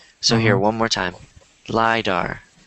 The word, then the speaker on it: lidar: it's telling me that it's pronounced lidar so if you guys want um pronounce this after me lidar my bar why do good and don't instead of saying derp sadar because it's dar so you want to say lidar not lighter because otherwise people might